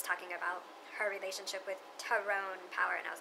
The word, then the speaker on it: Tyrone: It's not Tyrone, he ain't a brother. That's how his name would be pronounced, is Tyrone.